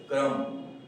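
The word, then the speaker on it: crumb: तो इसी तरह से दूसरा जो हमारे पास वर्ड है वो है क्रम।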